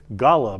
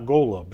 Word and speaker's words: Golub: Wayne Golub stopped in of the Solkar Golub band, and we apologize for mispronouncing your name all these years. Golub, not Golub, so I was impressed.